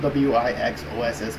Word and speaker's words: WIXOSS: And this anime is Selector Infected WIXOSS. It's spelled W-I-X-O-S-S, but it's pronounced WIXOSS.